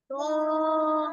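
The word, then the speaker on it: ط: হরফ দেখো ত বলো ত ত এটা কি মোটা হরফ দুই ঠোঁট গোল করে উচ্চারণ করো ত ত জোরে বলো আব্বু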